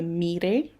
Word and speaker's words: Moirai: So the weaving goddesses were called the Mire. It's spelled Moirai if you want to look it up.